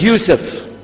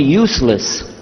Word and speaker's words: Yusuf: back some are gone my name is Yusuf he say Youssef Misha Houston very good I wish to teach my wife she keeps mispronouncing it she calls me useless humbly now how many of